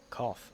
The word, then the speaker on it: cough: way of pronouncing it so we had bow there b o u g which is an ow sound but if you have cough for example c o u g it's an off sound then if you